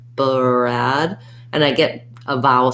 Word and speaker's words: Brad: with the letter g i hold that vowel a little longer to so that you can hear that i'm using a d brad brad versus if i hold it too too short brad brat it'll sound like the word brat um even if i'm